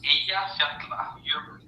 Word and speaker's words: Eyjafjallajökull: It's Eyjafjallajökull. That's Eja Fjalla Jökull.